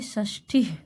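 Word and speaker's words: षष्टिः: और 60 को पढ़ेंगे षष्ठी। षष्ठी विसर्ग का भी उच्चारण होना चाहिए, षष्ठी।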